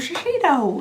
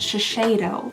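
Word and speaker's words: Shiseido: Oh, shashidito. Oh, you know what? I did actually see a comment recently on my channel. Uh, someone said that it's pronounced shashedo.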